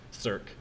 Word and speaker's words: circ: That symbol right there is, for young mathematicians and youngish mathematicians anyway, is often pronounced circ, because that's the command in LaTeX that you have to type to make it show up.